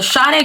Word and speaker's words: Sade: don't got it or the true Nigerian pronunciation as close as I can get to it is from the shet girl aesthetic to the Kendrick